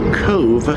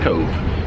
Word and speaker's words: Cobh: now when I heard they were coming to Cove I guess that's the proper pronunciation the first thing I